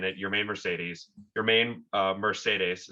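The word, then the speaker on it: Yermín Mercedes: it your main mercedes your main uh mercedes is how he prefers it to be pronounced yeah he uh yeah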